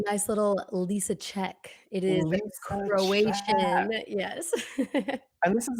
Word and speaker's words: Lisicak: It is Lisicak.